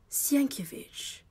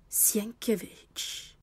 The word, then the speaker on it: Sienkiewicz: It is pronounced Sienkiewicz. S-I-E-N-K, Sienk. I-E, ear. W-I-C-Z, Vich. Sienkiewicz."